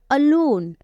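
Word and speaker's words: alone: लिखा है अलोन देखिए यहां पर लिखा तो ए है लेकिन हम इसे प्रोनाउंस क्या करते हैं ऑ अलोन और सेकंड वर्ड है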